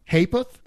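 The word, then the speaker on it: ha'porth: In fact, modern speech has failed to keep up with inflation, and usually you'll just get a half penny's worth, pronounced hapeth.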